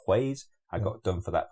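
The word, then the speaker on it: Gueuze: So I actually stock one of the sour beers called Hues. I got done for that pronunciation as well. Hues, not Gues, if you're English, right? Hues. It's Hues.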